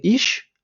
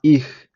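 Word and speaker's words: ich: ми щоно говорили і Зверніть увагу що правильно буде не іш а іх іщ багато хто вимовляє тому що це такий діалект якраз південних частин Німеччини а насправді правильно грамотно говорити іх така з м'ягкизнаком ха м'ягка Тому що тут у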